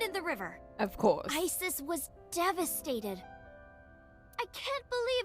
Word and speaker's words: Isis: Horse's mom is named Isis, but in ancient Egyptian, it's pronounced closer to Isa or Asa.